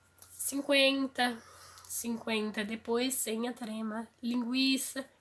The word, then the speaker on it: linguiça: 50, depois sem a trema, linguiça. A gente percebe-se que a perda da trema não afetou a sonoridade, a pronúncia da palavra. Então, tranquilo continua com a mesma pronúncia, tranquilo.